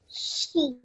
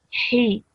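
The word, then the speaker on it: حِ: Okay, this is not a she. The letter is ha. Okay, so that's why we have to pronounce that sound. He. He. Okay, you know, like in English, if I was to write the sound of this letter, I would say H-I, like that.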